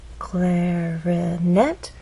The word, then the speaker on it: clarinet: our voice glide up clarinet has three syllables clarinet but it's the final syllable that is stressed and there's a pause